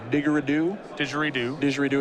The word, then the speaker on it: didgeridoo: Now, I've been informed that your pronunciation of didgeridoo is correct.